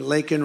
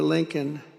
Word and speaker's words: Laken: never call and then he pronounced her name wrong remember he called her Lincoln remember that in Congress he called her Lincoln didn't even have the respect of knowing her name who was out for a